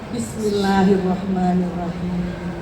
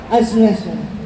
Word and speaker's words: Bismillahirrahmanirrahim: Banyak orang baca basmalah terburu-buru, akhirnya apa? Asyasya. Itu nggak ada artinya itu.